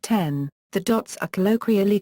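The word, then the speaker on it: 点: As the Japanese word for dot is pronounced ten, the dots are colloquially called 10-10-10, 10-10-10, akin to the English ...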